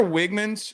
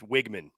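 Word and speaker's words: Weigman: Connor Wiggman's or Wgman.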